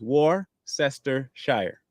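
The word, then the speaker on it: Worcestershire: war sh in case I'm going to tell you how the word is pronounced War sest Shire okay it's pretty easy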